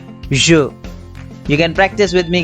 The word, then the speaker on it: je: So you can see the first subject pronoun, which is I, is pronounced as je. Je.